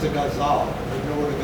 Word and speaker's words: ghazal: It's a ghazal. If you know what a ghazal is, very interesting sort of poem. Jonathan, it's pronounced guzzle. Yeah? Guzzle.